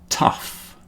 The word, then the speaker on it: tough: The next group is uff, rough, tough, enough.